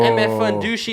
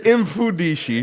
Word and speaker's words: Mfudishi: MF Fundushi. I don't even know how to say it yet. What's that, MF Fundushi? Yo, what? Bro, it's Mfudishi.